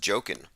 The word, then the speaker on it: Joaquin: tech inc says that joaquin is pronounced joking of the the phoenix